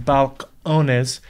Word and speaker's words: Balcones: distillery and jared hempstead of balconies it's actually pronounced balcones and we will be discussing why texas whiskey